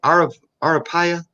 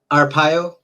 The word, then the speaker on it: Arpaio: Arapaya? Arpaio.